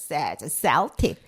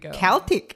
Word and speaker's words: Celtic: concer with my dictionary it's always a saltic so I correct my pronunciation oh no to Celtic well now here we are correcting it again oh then we do readjust that to Celtic Celtic Celtic so it comes from